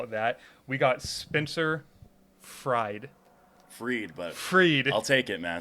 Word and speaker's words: Fried: Tonight in the studio, if I could be so bold as to call it that, we got Spencer Freed. I'll take it, man. It's spelled Deep fried rice, baby.